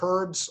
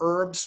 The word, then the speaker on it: herbs: I was talking with a woman in Nepal, and she exports various kind of herbs or herbs, whichever pronunciation you use, both are right, from Nepal.